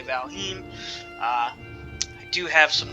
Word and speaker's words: Valheim: to say that pardon me wants to say valheim uh i do have some nordic blood in